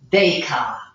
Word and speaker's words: Descartes: and with this we're gonna look at you pronounce this name deca french person descartes rule of science this is actually quite useful